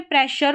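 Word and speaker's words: pressure: तो यहां पर देखिए इसमें प्रेशर पढ़ा जा रहा है।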